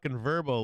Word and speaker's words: VRBO: like a commercial and they say it like 30 times like it's verbo man you like purple I